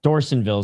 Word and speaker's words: Dorsanville: Is it Dorsanville is how they're pronouncing it, my bad.